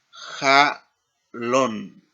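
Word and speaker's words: חלון: Aquí tenemos para la palabra sueño en hebreo es ja lon. Jalon. Y la terminación plural es ja lo mot.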